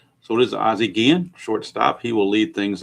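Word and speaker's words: Ozzie Guillén: Some people call him Ozzie Guillen, but I've always heard it pronounced Guillen. So it is Ozzie Guillen, shortstop.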